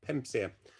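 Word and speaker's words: PEMSEA: seas of east asia or pemsia as it is uh generally pronounced um i think that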